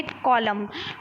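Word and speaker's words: column: है ठीक है कुछ ऐसे शब्द हैं जिम एन साइलेंट होता है जिसमें से मोस्ट इंपॉर्टेंट है कलम कलम बहुत बहुत डीएलएड में पूछा गया है ठीक है तो ऐसे शब्द में एन लैटरल साइलेंट होता है वो क्या होते हैं अछाम ऑटम बोलते हैं लेकिन लिखने क्या है ऑटम लिखने हैं ठीक है कलम कलम बोलते हैं लिखे लिखने क्या है कलम में बोलते हैं दम बोलते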